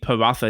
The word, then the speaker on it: paratha: So it's not a th, it's a ta, right? It is a light paratha. Paratha. Yeah. I've never heard it said. I've only read it. So paratha bread.